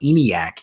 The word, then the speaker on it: ENIAC: If I am wrong about that, I am sorry, but I do believe that is how you pronounce it.